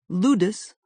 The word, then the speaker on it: ludus: Ludus, rhymes with Brutus, derives from the Latin word for play.